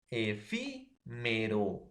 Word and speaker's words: efímero: Efi, efímero. Ahí está. Entonces, profesor, en la antepenúltima sílaba, si la mayor fuerza de voz tiene en la antepenúltima sílaba, va a llevar tilde, ¿no?